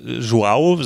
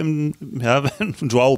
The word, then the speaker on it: João: Also João, sagen wir hier João Pinto oder so, und dann ist es João. Ja, also es klingt ja, so genau. Ganz anders.